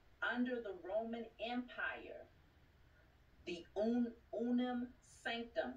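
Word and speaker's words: Unam Sanctam: I declare and decree that all contractual agreements under the Roman Empire, the Unam Sanctum, which is spelled U-N-A-M, Sanctum, S-A-N-C-T-U-T-A-M, S-A-N-C-T-A-M, the Unam Sanctum, and all participating entities are destroyed.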